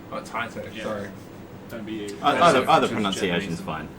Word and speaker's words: Taito: actually pronounced Taito. Oh, Taito.